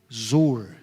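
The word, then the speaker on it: זר: Se você pegar o dicionário bíblico ali, o Strong, essa palavra estranha é uma palavra em hebraico que se pronuncia zor, que significa ser estranho, ser estrangeiro, tornar-se alienado.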